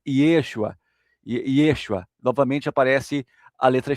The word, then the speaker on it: Yeshua: Jesus, por exemplo, é, porque o nome original em, em hebraico é Yeshua.